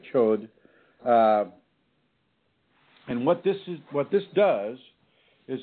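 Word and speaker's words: Chöd: The Tibetans have an ancient ceremony that they call a chod. That's spelled C-H-O with an umlaut and D. So the chud or chod.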